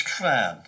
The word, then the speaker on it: llan: for an enclosure is clan. It's spelt LLAN. The double L is pronounced something like that. So clan would be what they would call it.